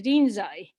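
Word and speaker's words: Rinzai: in time to china to lin chi you might know him at the din'zai the japanese pronunciation and hearing the nambuchu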